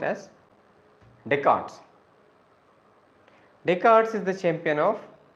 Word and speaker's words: Descartes: approaches Champion is deards wrote as Descartes but pronounced as deart deards is the champion of these approaches interactionism